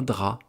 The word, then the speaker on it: drap: On peut dire aussi un drap. Le drap que vous mettez sur votre lit, eh bien, ça s'écrit avec un P muet à la fin.